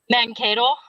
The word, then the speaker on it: Mankato: Mankato. Mankato? Yeah. Kato? Kato. Mankato. It's like pontoon. Hi, Izzy. It sounds like Sharknado, Mankato.